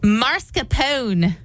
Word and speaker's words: mascarpone: Mascarpone. Do you know if that's right or not? Nope. Not at all. Apparently, it's pronounced mascarpone.